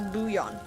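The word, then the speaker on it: bouillon: Okay, I'm not supposed to pronounce the L's. Buon. Boule. Bullion. Bouan. I've never heard it say pronounced as booion.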